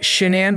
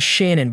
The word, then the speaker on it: Shan’ann: Pronounced Shan’ann by friends and Shan’ann by her family, she grew up with her younger brother, Frank Jr., or Frankie, in Aberdeen, North Carolina.